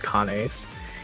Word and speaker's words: Kanes: Okay, so the chat says his name is actually pronounced Kanes. Yeah, it's like the Latin word for canine. You know, it's like constellation themed. If you like actually see how people pronounce it in Japanese, that Japanese pronunciation, it's Kanes.